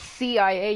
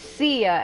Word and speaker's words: Cia: And I'm like, where the fuck are you guys getting the sh sound from? It's CIA, you idiots. It's not sh. It's see ya, as in see ya later.